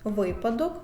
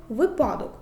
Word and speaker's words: випадок: течія течія русло русло випадок випадок правильно наголошені слова треба вимовляти так цінник бо цінник викликає Тик течія можна поставити собі питання та чия русло група імена Руслан випадок бо випадок то припадок відповідь г Дякую що